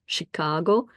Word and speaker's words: Chicago: come from Midwest and they pronounce the name of the city Chicago with a perfect sh sound like I'm going to